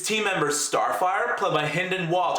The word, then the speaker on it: Hynden Walch: members Starfire Club my hynden walch I actually previously pronounced Hayden by mistake if you watch my